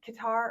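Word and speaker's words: Qatar: Um the last one was in uh Do you say Qar or Cutter or how do you say? I say cutter.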